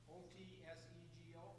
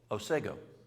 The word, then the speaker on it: Otsego: How do you pronounce Otsego? Otsego? O-T-S-E-G-O? Yes? Otsego.